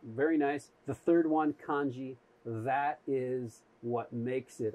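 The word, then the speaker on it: 漢字: you have two letters those two letters are pronounced kanji the khan means chinese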